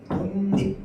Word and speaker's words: 독립: 뒤에 있는 애가 리을이 니은으로 먼저 바뀌고요. 이 니은이 앞에 있는 기역에게 영향을 줘서 기역은 또 이응으로 바뀌는 거야. 그래서 최종 발음은 어떻게 돼요? 독립 이렇게 됩니다. 독립.